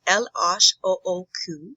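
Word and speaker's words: L.H.O.O.Q.: he is french so if you say those letters in french it's el osh if you say it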